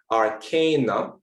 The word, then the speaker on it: arcana: we can see it actually has a long diacritical marking which means that it should be pronounced arcanum and therefore it should be arcana but all habits die hard so arkana or arcana